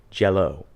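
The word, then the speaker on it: Jellÿ: to the word jello so they spelled the name differently they spelled it like green jelly with oom Lots over the EES because that's cool I guess and they still pronounced it jello so it was spelled differently they still said a jello it's a [ __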